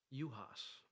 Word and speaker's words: Juhasz: Juhasz. Is that how you say it? Yep. I'm going to get that wrong. I promise you that. Juhasz.